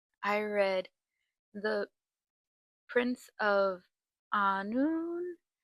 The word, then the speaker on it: Annwn: Um, I read The Prince of Anun. Anun.